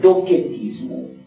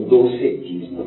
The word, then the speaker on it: docetismo: Em grego, a doutrina da aparência chama-se docetismo, ou docetismo, pronuncia com K ou com C.